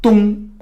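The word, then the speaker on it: 东: So the right side is dong. That character means east, but pronounced as dong.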